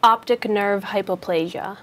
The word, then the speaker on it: optic nerve hypoplasia: for that how do you say it properly optic nerve hypoplasia optic nerve hypoplasia there you go sharing very